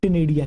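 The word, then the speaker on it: ctenidia: टनेडिया या नेडिया भी आप कह सकते हो बेटा बेसिकली साइलेंट होता है इसके अंदर प्रोनाउंस करने में जो है बड़े अटपटा सा है टनेडिया सी टी एन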